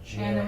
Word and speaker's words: Janna: It's Janna. Janna. Yeah, I know. It's like I know. Yeah, I know. Or is it Janna? Janna. Oh, It's like Anna with a J. Anna with a J. Anna with a J.